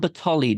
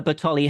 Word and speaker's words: Bertholey: uh Bertoli batoli house that's what we settled on Batali didn't we for the correct pronunciation of this uh Batali house and uh how it